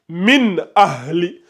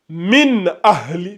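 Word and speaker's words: مِنْ أَهْلِ: Ici, on va lire min ahli. Min ahli min ahli. Je répète min ahli. On prononce clairement le noun. Ça donne min ahli.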